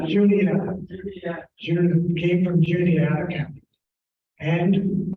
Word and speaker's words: Juniata: I want to say Juanita, and I don't think that's quite, Juniata.